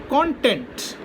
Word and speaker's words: content: When they are used as verb, the accent changes. Got me? So I have a list here. The first one is content.